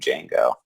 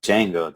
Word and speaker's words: Django: the movie keep saying oh django the d is silent and he's and he's